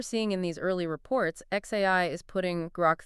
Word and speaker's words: xAI: into the world of AI sounds good specifically X AI pronounced xai and their latest creation grock 3 yeah